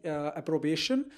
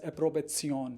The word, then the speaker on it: Approbation: known as an approvezion in English it is pronounced as approbation but in German language it is pronounced as a probation so obtaining a probation